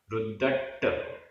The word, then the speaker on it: रुद्दट्ट: बिकहाइसु बिकहाइसु रुद्दट्ट झाणेषु रुद्दट्ट आधा द पूरा द आधा ट पूरा ट रुद्दट्ट, और झाणेषु में भी आधा ज और झा, ये पूरा एक शब्द है, एक समासित पद है। रुद्दट्ट झाणेषु रुद्दट्ट झाणेषु असूयगेषु